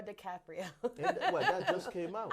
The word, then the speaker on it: DiCaprio: One battle after another with Leonardo DiCaprio. Did I say his name right? Nope. Leonardo DiCaprio.